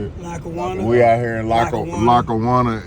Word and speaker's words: Lackawanna: Lackawanna.